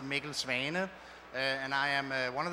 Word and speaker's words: Mikkel Svane: My name is Mikkel Svane. That's originally a Danish name, and Danish pronounced Mikkel Svane.